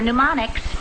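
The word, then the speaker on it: mnemonics: good night Kelly remember pneumonics pneumonics no no that's MN the m is silent thank you for a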